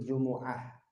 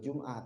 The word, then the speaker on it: Jumu'ah: Bahasa kita Jumat ya, tapi kalau dalam bahasa Arab Jumu'ah ya. Di surah ada namanya surah Jumu'ah. Idza nudiya li sholatil Jumu'ah. Ya, bacanya kan gitu dalam Al-Qur'an, bukan Jumat. Makanya niat sholat Jumat jangan nawaitu usolli fardhol Jum'ah, tapi usolli fardhol Jumu'ah ya, itu.